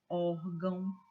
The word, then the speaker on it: órgão: Bênção, órgão, sótão. Vejam que a palavra, que a sílaba mais forte é a penúltima sílaba. Olha aqui, ó. Bênção. Olha como você pronuncia com mais intensidade.